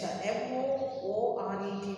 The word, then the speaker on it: moored: Okay, moored, you should pronounce it as moved, no R. R becomes silent while pronouncing, okay?